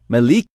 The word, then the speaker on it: Milaiki: Hi Moon, I've finally decided to teach you the right pronunciation of my name. I converted into Hangul. I think it is Malike.